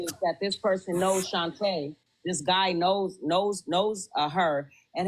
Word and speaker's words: Shanta: Is it pronounced Shanta or? No, it's Shanta. Shanta.